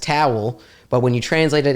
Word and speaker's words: Tawil: So the last name is pronounced Tawil, but when you translate it into English, it means tall.